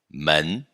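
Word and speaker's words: 门: Man. E como a gente pronuncia o caractere de plural de pessoa?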